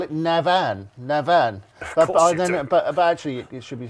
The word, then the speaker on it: Navan: So all you've got to do is put in as many A's between the N and the V as you can. So it's Navan.